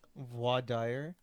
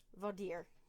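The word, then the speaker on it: voir dire: that your favorite word babe wah dyer vader they could be pronounced either way yeah uh so as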